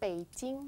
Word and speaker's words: Beijing: Beijing. Con P, más que con B. Beijing. Beijing, okay. And ask her what Beijing stands for. What does Beijing stand for? Beijing, I don't know why they call Beijing.